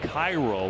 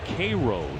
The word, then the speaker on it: Cairo: It looks like Cairo when you read it. It's actually pronounced Cairo, Georgia.